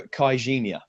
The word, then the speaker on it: Caixinha: So apparently this is how you pronounce his name. I've been told it is Pedro CAIXINHA.